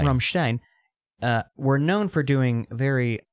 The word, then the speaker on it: Rammstein: Dude, the Rammstein show was insane, and I kind of So loved sick.